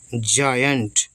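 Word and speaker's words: giant: एन है तो की जायन और टी सेटा जायंट जायंट का मतलब होता है बड़ा विशाल जो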